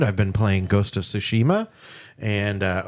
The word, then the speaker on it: Tsushima: been playing ghost of tsushima and uh or sushima as it's pronounced in the game uh and that game